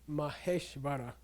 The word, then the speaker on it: Maheshvara: I say Maheshvara, okay?